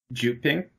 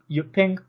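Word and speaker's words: Jyutping: Juping? Yeah, you think like J, don't you? J. But it's like a Y sound, it's Yuping. Yuping.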